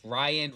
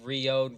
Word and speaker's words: Rion: There is no consistent pronunciation for it. We have Ryan, Rion, Rian. Okay, so we'll just stick with Rion.